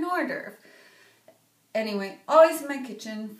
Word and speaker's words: hors d'oeuvre: Notice the H, but the French don't pronounce H's, which makes sense because who would order a hors d'oeuvre? And when you want an hors d'oeuvre.